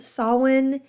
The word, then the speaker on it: Samhain: the word is spelled sin doesn't look like it should be pronounced as we do it is spelled s m